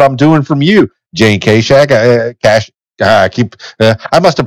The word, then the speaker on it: Kaschak: The funny thing is, my father says Kaschak and my mother said Kaschak.